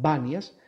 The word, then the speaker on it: Banias: ocupada por los islámicos y los islámicos no tienen la p en su alfabeto entonces pronuncian banias pero hace referencia al